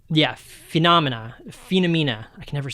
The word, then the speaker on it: Phenomena: If you ever get a chance to watch it, it's Phenomena. I had to Google it to make sure I said it right. Yeah, Phenomena.